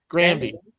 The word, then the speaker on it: Grandy: How does this pronounce his name? Grandy.